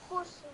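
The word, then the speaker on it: خسر: So you pronounce it as khusr. Again, the seen has sukoon on top, not fatha. And similarly, bis sabr, not bis sabr.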